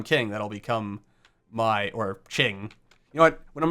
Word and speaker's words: Qing: once I become king that'll become my or Ching you know what when I'm refering to the